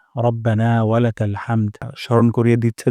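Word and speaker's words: رَبَّنَا: প্রথম শব্দটি হলো রব্বানা এখানে র মোটা করে উচ্চারণ করব না এখানে এক আলিফ পরিমাণ মাত করব রব্বানা রব্বানা তারপর ওয়ালাকাল ওয়ালাকাল হামদ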